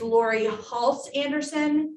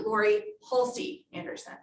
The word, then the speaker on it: Laurie Halse Anderson: example in this case it's laurie halse anderson not lori hulsey anderson in which book does